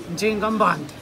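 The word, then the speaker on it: Nzinga Mbandi: O pronunciamento Kimbundo, Ndinga. Ndinga. Ndinga Mbandi. Ndinga? Ndinga Mbandi. Então, mas dizem que é com... Porque às vezes é Ndinga, Ndinga Mbandi. Não, o ano tá não pronuncia o ano. Não? Não. É Ndinga Mbandi.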